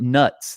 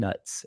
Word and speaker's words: Knut: originally said sounds differently Knute that's another one so it's not it's not nuts the money and actually now Wizarding World says it's kind nuts is how you're supposed to pronounce it okay yeah but now